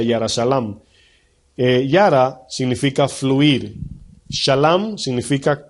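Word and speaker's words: ירושלים: Es como decir Jerusalén, en el hebreo se pronuncia Yara Shalam.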